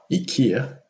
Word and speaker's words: IKEA: 2018 last but not least swedish entrepreneur in kamprad who founded the home furnishings retailer ikea it's pronounced ikea in swedish and scandinavian countries but ikea in